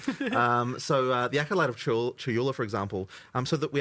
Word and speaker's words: Chayula: The acolyte of is it Chalula? Chayula. I always say this wrong. The acolyte of Chayula, for example.